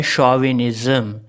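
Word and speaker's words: chauvinism: इसी तरह एक और वर्ड है शॉविनिज़्म। शॉविनिज़्म में भी हम सी एच को शाह पढ़ते हैं, ना तो हम इसमें चा पढ़ते ना का पढ़ते।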